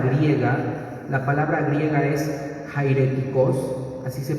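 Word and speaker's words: αἱρετικός: es una palabra griega la palabra griega es jairéticos así se pronuncia el eje griego Jayden significa aquel que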